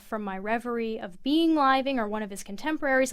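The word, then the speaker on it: Liveing: was reading but first tell me if I'm pronouncing the person's name right living living yes okay so I'm I'm going to read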